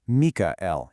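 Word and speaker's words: מיכאל: In ancient sacred languages, Michael, or pronounced Mikael in Hebrew, isn't just some random title.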